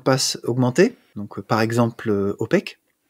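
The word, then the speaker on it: OPAQUE: En utilisant les échanges de clés par mot de passe augmentés, donc par exemple OPEC, OPEC, ça s'écrit comme en anglais, O-P-A-Q-U-E.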